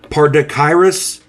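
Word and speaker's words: Pardachirus: to love this acquire paryus marmoratus fish I believe that's how it's I'll spell it p a r d a c h i r u s and the second word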